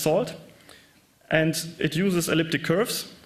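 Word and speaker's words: NaCl: It uses a networking and cryptography lib, pronounced SALT, and it uses elliptic curves for the Diffie-Hellman key exchange, 255-bit public keys.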